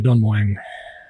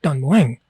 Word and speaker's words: Don Mueang: Thais will say, no, you don't say it like that. You say it like Don Mueang. And I say, yeah, Don Mueang.